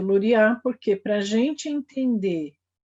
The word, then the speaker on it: Luria: Tem gente que fala Lúria, e aí a acentuação está, a sílaba tônica pronunciada está errada, é Luria.